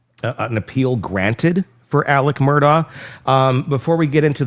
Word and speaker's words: Murdaugh: It's Murdoch. They were saying like Murdoch.